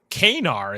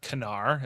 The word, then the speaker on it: Kanar: and has a drink, orders a glass of Kanar, as they pronounce it here, not Kanar, as we'll come to know it more in Deep Space Nine.